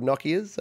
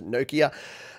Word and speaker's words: Nokia: Yeah, so Robin the Space Boy says, I wonder if anyone still has a Nokia. Nokia, we called them Nokia here. I think it's Nokia is the actual pronunciation in, are they a Swedish company?